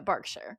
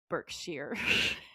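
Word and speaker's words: Berkshire: Barkshshire here. Um, and in America you just say Burkshshire or Birkshshire. I'm trying to remember the American pronunciation.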